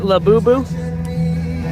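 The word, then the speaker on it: Labubu: From all the freaking festivals and shows I've covered and seen those things everywhere, I finally learned how to say them correctly, I think. Right? La Boo Boo?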